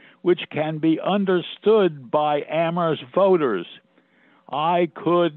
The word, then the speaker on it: Amherst: That aphorism referencing Amherst as the town where only the H is silent would have made no sense then, because it was a very silent town.